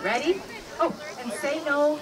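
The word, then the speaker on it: せーの: right ready oh and say no means begin in Japanese it's not saying say no it's actually s e n o anyway ready say good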